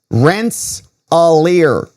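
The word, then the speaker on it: Rensselaer: It's pronounced rents a ralier.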